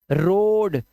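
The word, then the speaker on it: road: तो कोल soap loan रोड अब अंग्रेज पागल थे अरे ऐसे ही लिखवा देते यार रोड लेकिन उन्होंने ए लगवा दिया रोड ए का उच्चारण है ही नहीं लोफ बोट बट लगाएगा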